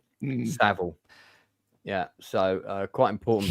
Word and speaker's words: Jimmy Savile: Uh and um but just for your own benefit, it's pronounced Jimmy Savile, not Seville. Savile.